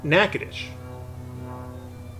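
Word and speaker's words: Natchitoches: town a character off on a tangent is pronounced nakadish and they are both just about equidistant from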